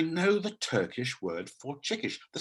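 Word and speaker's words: çıkış: But the Turkish word chikish, I believe it's pronounced chukish.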